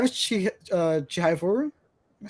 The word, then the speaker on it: Chihayafuru: 5 is Chihayafuru. Am I saying it right? Yeah. Chihayafuru.